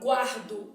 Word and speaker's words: guardo: aí eu tenho a palavra guardo o é pronunciado né então quando eu venho